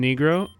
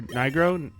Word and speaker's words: Nigro: Rodrigo his name is Dan negro or Nigro it's as awkward as it sounds okay it's spelled that